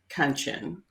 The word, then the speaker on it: Kanchan: I now say my name is pronounced Kanchan, rhymes with luncheon, in case you're wanting to know.